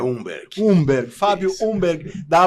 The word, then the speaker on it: Humberg: Como é que pronuncia, Fábio? É Umberg.